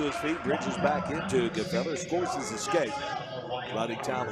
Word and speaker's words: Gefeller: Caden Gefeller, G-F-E-L-L-E-R. His coach calls him G-Feller. That is there. But Caden Gefeller is the correct pronunciation.